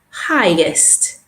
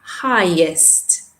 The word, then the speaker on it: highest: say widely and just watch the pronunciation of this superlative highest notice there's no sound in there okay highest okay highest and we're matching them